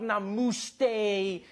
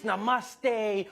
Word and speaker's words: namaste: People were coming on like, dude, it's not namuste, it's namaste. Who messes up namaste says namuste.